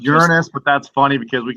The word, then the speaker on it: Uranus: This is the shot from Uranus. Actually, it's pronounced Uranus, but that's funny because we can always say, it's always swamp gas coming out of Uranus.